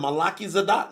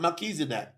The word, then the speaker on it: Melchizedek: He's following the order of Melchizedek, not Melchizedek. You got to learn how to spell that.